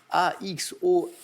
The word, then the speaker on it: axolotl: C'est axolotl. A-X-O-L-O-T-L, axolotl.